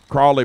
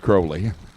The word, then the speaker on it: Crowley: It's Crowley. It's got crowbar on the car, but I just assumed it was Crawley. And the dad said, well, it's pronounced Crawley, but everybody quit trying to correct it, so we just went with Crowley.